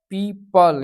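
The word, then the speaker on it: people: अब rule number 2 कहता है अगर ओ के पहले ई आए तो ओ साइलेंट रहता है। जैसे पीपल, यानी कि ओ के पहले ई आए तो ओ जो है आपका साइलेंट रहता है।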